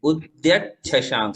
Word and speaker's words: उद्यच्छशांक: उद्यच्छशांक, उद्यच्छशांक जो सामने है, च है और छ है। एक चम्मच वाला च है और एक छतरी वाला छ है, तो उसी का उच्चारण हम करेंगे। उद्यच्छशांक।